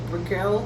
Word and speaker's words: Brickell: Yeah, let's go to how's it pronounced? Brickell.